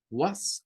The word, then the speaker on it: was: Was and were. Recuérdense que was, la palabra was la debemos de pronunciar, ¿verdad? Como si se tratase de una W y una schwa.